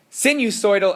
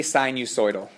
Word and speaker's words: sinusoidal: between the sign use send you soy Dell axis and the Max or min or you can say sinusoidal both are correct pronunciations well we need to